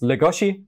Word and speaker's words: Legoshi: what you actually seen if you're going for the japan one it's ligoshi for ligoshi ah i'm bad at